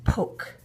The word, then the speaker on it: poke: I'm just going to leave the E on its own because it's a silent E. And in this case, this silent E jumps over that consonant and pokes the letter, the vowel to say his name, O.